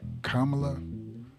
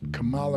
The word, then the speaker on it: Kamala: I call her Kamala. The people who are trying to make fun of her call her Kamala. But how can you make fun of a name that is pronounced either of the ways?